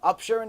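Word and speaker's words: upsherin: And she says, listen, I want you to do the chalake, the upsharing, it's called in upsharing. Am I pronouncing it right?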